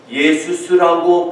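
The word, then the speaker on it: Ἰησοῦς: 그리스어로 예수스라고 발음하는데 히브리어의 여호수아를 그리스어로 번역한 것입니다.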